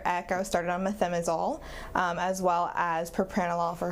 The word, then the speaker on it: methimazole: to take the propranolol since June, so just methimazole now. That's exactly what I did. Methimazole, is that how you pronounce it?